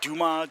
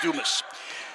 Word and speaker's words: Dumas: doing this i had to ask somebody it could be duma you know all kinds of pronunciation but it's dumas coming up speaking of